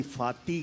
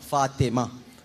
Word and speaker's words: فاطمہ: اب اس کو کوئی فاتی کہے, فتو کہہ دے تو کتنا دکھ ہوگا. تو وہ لوگ جو صحیح تلفظ کیا ہے علامہ صاحب؟ فاطمہ. فاطمہ پورا کہنا چاہیے. اور فاطمہ بھی نہیں ہوتا, فاطمہ تو ایک نیچے زیر ہے, فاطمہ ہے.